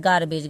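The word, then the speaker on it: garbage: ग पढ़ना है और यहां पे जी के बाद ई है तो यहां पे हमने ज इसका उच्चारण किया है तो इसको हमको कैसे पढ़ना है गार्बेज गार्बेज का मतलब होता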